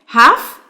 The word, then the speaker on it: half: half يعني نص زي ما احنا شايفين كده. تمام؟ والال هنا برضو بتبقى silent. تمام؟ a half.